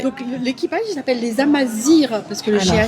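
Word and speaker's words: Amazigh: Donc l'équipage il s'appelle les Amazirs parce que le Alors. GH ça se prononce Amazir, enfin R en marocain, je vais faire ça.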